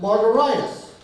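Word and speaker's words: Margaritis: it should be pronounced margaritas like hepatitis gingivitis laryngitis but it's not fun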